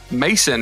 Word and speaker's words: Masson: do we are bringing in a guest Paulina Mason is how you pronounce it yeah yes all right cool it's